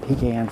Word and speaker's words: pecan: And no, it's not pronounced pecan. People who do that need to be slapped, and make sure you straighten them out when they say that garbage, okay? They're not pecans, they're pecans.